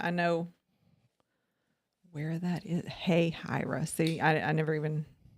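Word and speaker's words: Hahira: Hey, Hira. See, I never even. So you pronounce H-A, hey, Hira.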